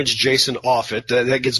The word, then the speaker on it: Offut: you all correctly pronounce my name is Jason off it that gets butchered all over the place yeah I'm I